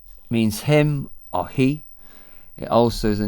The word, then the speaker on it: hi: Ni is, he, H-I, just pronounce that all the others, like rhyming with tea, cup of tea.